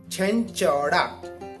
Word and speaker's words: Chenchada: If you're confused about the pronunciation or how it's called Chenchada.